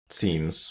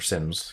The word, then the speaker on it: SIEM: you you touched on one other thing about scenes or Sims camera which pronunciation you prefer you're the same and then